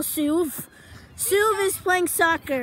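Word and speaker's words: Soov: And Ovi, who you could just call Suv. Suv is playing soccer right now. Let me just tell you how it's spelled.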